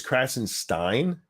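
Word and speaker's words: Krassenstein: barisma and the crashes apparently it's crashing Stein so I've been saying it wrong I'm not going to just saying it like Frankenstein apparently um but the crassensteins they their contention is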